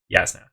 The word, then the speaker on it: Jasna: with Z Yas uh if you hear me interplay yasna and jasna it's because from reading the book I always read this character's name as jasna um however the official pronunciation in the Audi books is yasna and I'm always torn on which one I agree with more uh okay so yeah